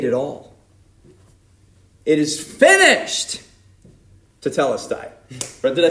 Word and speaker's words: Tetelestai: Tetelestai.